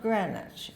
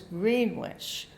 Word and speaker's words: Greenwich: And it was called Greenwich, not Greenwich. It was Greenwich, just the way it's spelled.